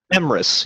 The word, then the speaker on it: Emrys: Emrys, you were really close.